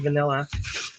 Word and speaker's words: VNLA: I think it's just pronounced vanilla.